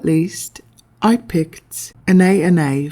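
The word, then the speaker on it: Anaïs: Last but not least, I picked Anais from Cacharel, or Anais, as it should be pronounced properly, even though I like to say Anais, just to piss people off,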